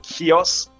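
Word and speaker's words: Chios: important to emphasize that in Greek it will be more like kios because we also have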